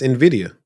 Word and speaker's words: Nvidia: Nvidia that's how you say it no it's Nvidia oh cool so there was an article that came out say hey if you've been saying Nvidia you've been saying it wrong because Nvidia but